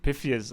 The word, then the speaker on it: Pythius: I said Pythius at the start. I said Pythius at the start. Then other people said Pythius or Pythius or whatever.